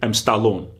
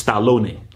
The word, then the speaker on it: Stallone: Same thing, you know, in America, how they say Stallone. That's not his. It's not called Stallone. It's Stallone. It's Stallone. But the Americanized is Stallone.